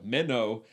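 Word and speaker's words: Menno: mino mino my yes it's dutch i'm terrible at dutch pronunciation but minnow did the it's it's m-e-n-n-o i know it makes it sound like i'm saying minnow like a fish but it's m-e-n-n-o meno did the story end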